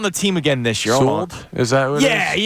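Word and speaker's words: Sewald: I say Sold like Sewell's in New Jersey. Right, Sewell, so New Jersey.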